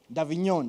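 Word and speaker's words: Avignon: is that name people who understand French davinon yes of dignon so again there's the davinon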